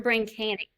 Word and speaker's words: BrainKanix: BrainKanix or BrainKanix?